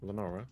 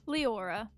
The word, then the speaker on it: Leora: And then, have I been saying it right? Is it Leora or Lenora? Lenora. Leora. Leora. Okay, my bad.